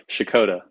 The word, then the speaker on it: Checotah: and raised there um say it for me how do you how do you say shakota that's exactly see that's what I was